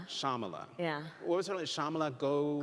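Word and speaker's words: Shyamala: name of your mother shamala so the Y is silent shamala shamala yeah what was shamala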